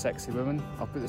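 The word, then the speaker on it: Sacsayhuamán: I've just taken a 30-minute walk up this hill to another Incan ruin, which I believe is pronounced Sexy Woman.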